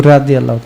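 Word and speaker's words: رضي: কেউ দ উচ্চারণ করে, কেউ জ উচ্চারণ করে। রাজি আল্লাহ তাআলা কয়, কেউ রাদি আল্লাহ তাআলা।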